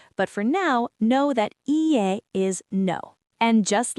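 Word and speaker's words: いいえ: Ie. That's the polite no. Let me break it down. I, e. Ie.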